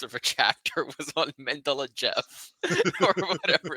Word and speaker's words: Mendeleev: But in normal English, when I was taught it is Mendeleev.